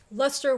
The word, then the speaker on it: Leicester: as that comma said the c and e are silent so you just kind of eliminate them from the word and you've got the